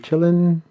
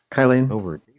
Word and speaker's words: Kylin: Kylin. The Kylin with letter Y. Kai and then Lynn.